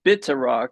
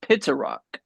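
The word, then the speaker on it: Pitaraq: Oh, I thought it was bitter rock, but it's pit rock. It's spelled pit rock, but it's bitter rock like a B. You say it with the B sound, not the P.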